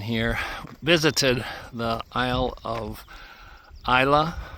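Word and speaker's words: Islay: Visited the aisle of Isa. It's spelled I S L E A Y but pronounced ISA.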